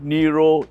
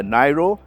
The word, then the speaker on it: Niro: of the all-new Kia Nero EV there seem to be two pronunciations for the name is spelled n-i-r-o so some people call it the nairo some people call it the Nero for me Nero seems